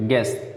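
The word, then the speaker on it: guess: लेकिन you silent रहेगा, guidance, guidance नहीं कहते, गेस यू साइलेंट रहेगा, जी ई डबल एस केल पढ़ेंगे।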